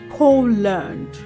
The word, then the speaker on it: Poland: However, the L A N D in these words is not pronounced as land. The letter A in that word land takes the uh uh the schwa sound. So we go learned learned and not land.